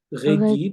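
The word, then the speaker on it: Régis: seorang Yahudi, lalu Regi, orang Prancis itu nggak bisa baca R, jadi mereka bacanya kayak Rein, Regi, dan nggak baca S di belakangnya, ya.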